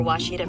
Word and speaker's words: Ouachita: University get it right it's Ouachita people it's Ouachita Washita hi my name